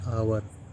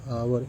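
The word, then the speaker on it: hour: I have been waiting for एन आवर एच ओ यू आर आवर एच से start लेकिन आवर लिख रहे हैं क्या? इसलिए एन का प्रयोग हुआ है।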